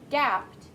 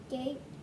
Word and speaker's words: gaped: makes it past tense makes the vowel sound long so it's not gapped it's because is short a but the e makes that a long some may some may have gaped at the idea but